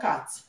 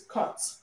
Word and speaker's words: cut: Maybe Ghanaians will pronounce it as cat, okay? But it's not cat, it's cut. Cut, okay? The sound they have here is cut, okay? Cut. The U here is pronounced R, okay?